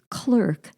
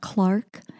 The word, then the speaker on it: Clark: Or could you tell him that missionary's name is pronounced clerk, not Clark?